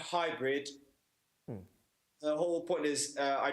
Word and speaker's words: Haibrid: Yes, and I see that you spelled it in an interesting way. Hybrid, as in how we Yes. pronounce it.